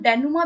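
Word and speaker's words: dénouement: और जान सकते हैं, ठीक है, इसे हम डेनुमा भी कहते हैं, DENOU, ठीक है, EMENT। ये स्पेलिंग आप याद रखना, डेनुमा से हम कहते हैं।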